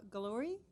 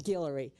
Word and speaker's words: Guillory: Laura Galori? Sorry if I mispronounced. Hello, it's Guillory.